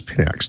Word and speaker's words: Pinax: Now that I know how to pronounce it, it's Pinax.